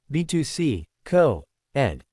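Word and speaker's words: Betws-y-Coed: "It's B2C, Co-Ed."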